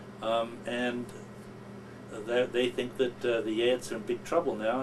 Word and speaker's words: Geat: We've not heard of Geats. The Geats have vanished. The G-E-A-T. G-A-T-S. And you pronounce it?